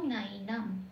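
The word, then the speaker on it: নৈনং: তাহলে এখানে নৈনামটা বাংলায় বলছি, যখন সংস্কৃতে চান্ট করব তখন কি বলবো? নাইনাম।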